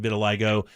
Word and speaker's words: vitiligo: And they also have a Ken doll that has the skin condition vitiligo. Is that how you pronounce it? Vitiligo? Yes, it is.